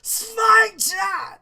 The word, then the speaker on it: Sphincter: Chill didn't pronounce the I as in, "I warned you." He pronounced it the I as in, "If you show me respect, you'll get it in return." "Sphincter!"